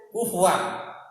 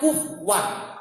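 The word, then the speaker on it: كُفُوًا: Kufuwan. Tapi dalam qiraah sab'ah enggak. Ada yang bacanya kufwan, ya. Kufwan atau kufan. Wawu diganti dengan hamzah.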